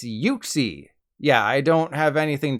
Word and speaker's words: Uxie: It's not Uxie, as in oopsie, as I've been saying. It's Uxie.